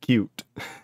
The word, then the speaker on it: Qt: working with it ain't cute sorry it says also QT is pronounced like cute it can be it